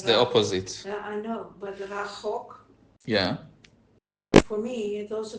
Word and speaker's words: רחוק: I know, but rachok. Yeah. For me, it also can be rechok.